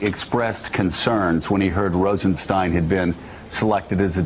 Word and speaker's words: Rosenstein: up at rod Rosenstein told people yesterday in the Senate that you pronounce it Rosenstein so thank you Willy